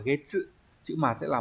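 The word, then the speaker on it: 月: À, chữ nguyệt có cách đọc là gatsu và getsu, nhưng mà trong trường hợp ghép âm ấy nó đọc là getsu.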